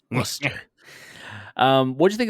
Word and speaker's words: Worcester: do you how do you how do you pronounce Worcester uh Worchester it's Worcester um what do you think of this match